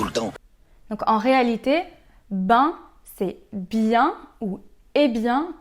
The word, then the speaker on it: ben: Donc en réalité, ben, c'est bien ou est bien mal prononcé.